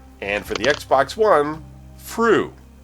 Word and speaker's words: Fru: And for the Xbox One, Fru. Spelled like flu, but with an R instead of an L.